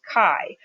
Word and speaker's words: chi: new distribution it's called the chi-square distribution it's pronounced Chi and it looks like this it's pretty much